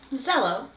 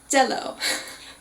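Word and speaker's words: Zelo: In English, we say Zello. But in the Korean, they don't actually have a Z sound. So instead, his name is done with the character D. So it's going to be more like Jello. Yeah, Jello. You can kind of like the food we eat, Jello.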